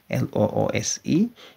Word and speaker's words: loose: It is a little loose loose አይደለም loose loose ቢሆን ኖሮ l o s e ነበር የሚሆነው የኛው ግን l o o s e the pronunciation is loose it is a little loose